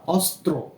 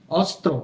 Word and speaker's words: অস্ত্র: জন এরপর ত র ফলা ওকার ত্র এর উচ্চারণের রূপ আর কি যন্ত্র কি হয় যন্ত্র এরপর অস্ত্র স্বর অ দন্ত স রফলা অস্ত্র অস্ত্র অস্ত্র মানে কি বন্দুক পিস্তল হ্যাঁ বিভিন্ন যেই আর্মস